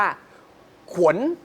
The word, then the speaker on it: ขวน: อย่าง เงี้ย นะ ฮะ แต่ ว่า ข ถูก ต้อง จริง ๆ ต้อง อ่าน ว่า ขวน ออก เสียง ยาก นิด นึง ขว ข เข้า ใจ มั้ย ฮะ ขวน แบบ ไม่ ใช่ เป็น สระอัว นะ ฮะ เป็น สระโอะ เหมือน ขวน นะ ฮะ ข ข ข